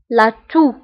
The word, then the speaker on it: toux: سعال la toux, la toux, la toux. وانتبهوا بالنسبة لاتو كنكتبوها بإكس في آخر الكلمة ولكنها لا تنطق. لاتو.